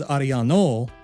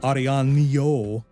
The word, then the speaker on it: Arellano: N right it is arano not arano because there is no Ina above the n in aro's name instead the N is like how we would pronounce it in English thanks again to all